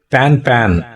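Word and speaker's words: pan-pan: by our call sign it shall be pronounced as the French expression pan pan pan p a n n e it indicates it is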